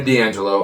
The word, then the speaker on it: D'Angelo: Then there was a part, I said his name wrong last week, and I don't know why I always say his name wrong. Tony D'Angelo.